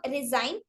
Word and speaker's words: design: g in the verb design is not pronounced we want pronounce as resign but the letter g in the word resignation is pronounced see destination resignation resignation